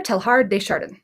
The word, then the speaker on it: Teilhard: is important awesome okay i have looked this guy's name up before and it is pronounced like it sounds or like it looks pierre telhar so let's read it